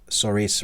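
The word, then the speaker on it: Saoirse: I really like uh soris Ronin her name is spelled not like you say it no like most Irish names right yeah Sasha Ronan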